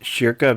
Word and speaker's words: Schierke: I'm gonna go with Schierke because the SCH thing kind of suggests like a German origin, and German names that end in E kind of make an sound.